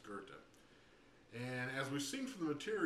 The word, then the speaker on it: Goethe: It looks like go with they or go with thee or whatever, but it's pronounced Goethe.